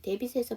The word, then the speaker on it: debt: 데빗에서 B 발음이 묵음이에요.